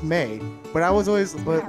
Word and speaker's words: Mai: Her name is Mei, but it's spelled Mai. Is it really? Yeah, it's spelled Mai, but it's pronounced Mei.